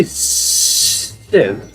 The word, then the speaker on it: Sive: Call me Siv. Call me Siv. The E is silent but deadly.